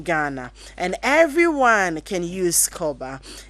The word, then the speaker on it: Korba: Koba is spelled KORBA.